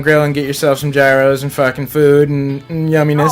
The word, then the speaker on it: gyro: They said to me the correct pronunciation is gyro.